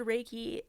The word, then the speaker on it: Reiki: This practice grew and eventually Raiki was introduced out of Japan via Hawaii in 1937.